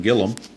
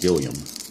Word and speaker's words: Gilliam: be lead off hitter Jim Gillum or Jim Gilliam I'm not sure how it's been I think it's pronounced Gilliam he lined to third his